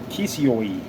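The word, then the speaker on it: Kissioi: the mysteries yet that the established way in which the name of his descendants the cushites was ordinary ordinarily pronounced in greece was not after the oriental fashion but as a kisawi kisioi k-i-s-s-i-o-i does strabo speaking of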